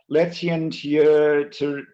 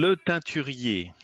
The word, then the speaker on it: Le Teinturier: Letien Tirir. Yes, well, nearly well pronounced. Can you say it properly? You're missing the French accent, Chris. Come on. Le Teinturier.